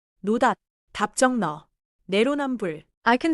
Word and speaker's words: 답정너: 답정은 받침 비읍 뒤에 지이 오면 지이 된 소리처럼 나서 답정에 가깝게 발음해요.